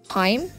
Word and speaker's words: hymn: Haim.